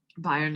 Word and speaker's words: Bayern: Bayern is how you say Bavaria in German.